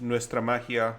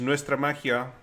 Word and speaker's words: Nuestra Magia: Cultures or Nalak and they're coming up with Nestra Mahia. Secret Layer is Nestra Mahia. That's how it's pronounced.